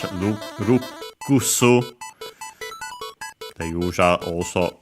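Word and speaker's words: ルクス: Notice also, by the way, the doubling of the consonant, unlike in English, rukusu.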